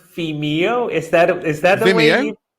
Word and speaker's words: Vimeo: And I totally should have known how to pronounce Vimeo.